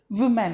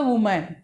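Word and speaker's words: women: इसको जनरली क्या बोलते हैं? वुमेन। एक्चुअली प्रोनाउंसिएशन क्या होती है? विमेन, right.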